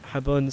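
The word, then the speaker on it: Jabun: Oh, by the way, I'm pronouncing that Habun because I think it's funny. Because it's close to the Spanish word for soap.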